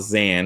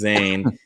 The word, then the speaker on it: Zayn: They spelled his name wrong on the Eugene roster, but uh it's not Zan, it's Zayn.